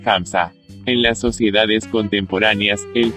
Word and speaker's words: Hamsa: En la India, que fue invadida por los musulmanes durante siglos, se lo llama mano unsa, una manera de pronunciar Hamsa.